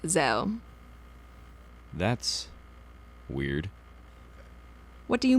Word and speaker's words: Zeo: do you mean well if you think of the word Zed with the same first two letters you don't say it like Zade do you well no